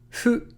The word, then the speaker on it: フ: Fu. Again, fu is between the English F and the English H. It's between fu and hu.